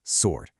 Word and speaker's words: sword: The silent W in words like write, answer, and yes, sword.